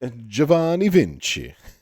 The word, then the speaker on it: Giovanni Vinci: Giovanni Vinci.